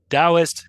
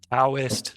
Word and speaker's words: Taoist: couple things with that so Taoist guys it's spelled t-a-o so if you see like uh Taoist yeah it's Taoist instead it also uh Yong